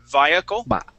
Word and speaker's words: vehicle: Vehicle is going to be more like saying via. Via. Okay, like las vías.